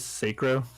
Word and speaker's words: Sacrow: My name is Sacrow, so that's how you say it, I guess. Sacrow, or Crow, or Scarecrow, whatever you want to say. I mean, just not Sack.